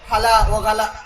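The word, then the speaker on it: هلا وغلا: মারহাবা, কাতারে ইয়া হালা, হালা ও গালা। কাতারের মধ্যে ওই তারা হাটাকে গয়ন উচ্চারণ করে, হালা ও গালা, হালা গালা, হালা গালা, মানে একটা অভিবাদন আর কি।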